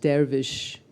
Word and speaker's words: dervish: The word darvves is interchangeable with sufi. It is pronounced dervish in by the Turkish speaking people.